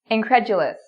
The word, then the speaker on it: incredulous: Incredulous, incredulous.